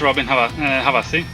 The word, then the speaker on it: Robbin Havasi: I mean, if I say it in Swedish, Robin Havasi.